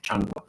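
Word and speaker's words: changua: Changa. Did I spell that right? C H A N G U A. I think it is.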